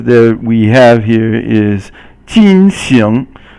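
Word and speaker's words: 进行: Okay, the next character that we have here is 进行. 进行 is fourth tone and second tone, and it means to carry on with something, and then, or to do something.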